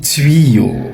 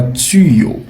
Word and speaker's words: tuyau: Beaucoup de gens disent tu en réalité on dit tuyo comme dans nuit comme dans puit. OK. On dit tuyo et non pas tuyo. Donc désormais aujourd'hui, tu vas prononcer le mot correctement. Tu ne vas plus dire tuyo, tu vas prononcer le mot tuyo comme si tu prononçais le mot nuit ou encore le mot pui.